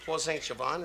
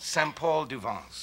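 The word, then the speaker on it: Saint-Paul-de-Vence: No, it's called Saint-Paul-du-Vence. Oh, what of course, did you say? You know, I said Paul Saint-Gervain. And Paul Saint-Gervain would be the wrong town.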